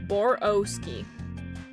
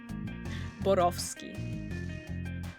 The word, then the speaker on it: Borowski: Boroski. Yeah, that is still wrong. It's like bor of ski. Cuz RW isn't pronounced like a W.